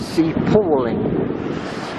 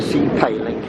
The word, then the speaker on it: Sea Palling: of sand away and I stand corrected on how you pronounce it it's sea paing for 50 years I've called it sea paling so there we are